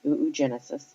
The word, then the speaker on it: oogenesis: And yes, that is the way that it is pronounced. It is oogenesis.